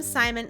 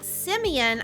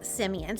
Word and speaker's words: Simeon: the sage sign sorry i almost called him simon simeon i was saying his name wrong last episode it's simeon i had never seen that name before i just assumed it was another way of spelling simon but it's not it is simeon so anyway we had